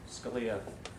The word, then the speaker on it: Scalia: And incidentally, Scalia rhymes with Sharia, and it reminds me that the title of this talk of mine is "How do you solve a problem like Sharia?"